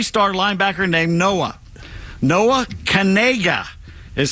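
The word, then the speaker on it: Knigga: got a three- star linebacker named Noah Noah Cana is how his last name is pronounced his surname is spelled k n i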